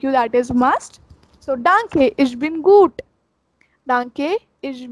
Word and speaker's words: danke: Thank you is danke. Danke. It's not donkey. Some people say donkey. It's not donkey. It's danke. Danke.